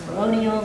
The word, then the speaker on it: peroneals: You might be hitting some of the fibularis muscles, or sometimes they're called the peroneals, or it's pronounced peroneals also.